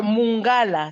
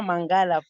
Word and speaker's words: Mungala: C'est Mungala, ce n'est pas Mangala.